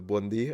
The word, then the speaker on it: buondì: Blondie. Yeah, it's a good way to remember buondì, I guess.